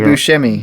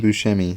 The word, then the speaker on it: Buscemi: wait where is he my man see Steve Buscemi Buscemi yeah love that guy he's one of my